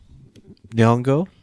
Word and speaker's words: Nyong'o: Is that how you pronounce her last name? Nyong'o, right?